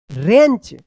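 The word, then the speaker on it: wrench: T wrist ध्यान रखिएगा आर से पहले अगर डब्ल्यू आता है तो डब्ल्यू जो है ना साइलेंट रहता है रिस्ट वॉच डब्ल्यू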